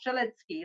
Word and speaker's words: Strzelecki: The other one is Strzelecki Ranges, and it is pronounced Strzelecki.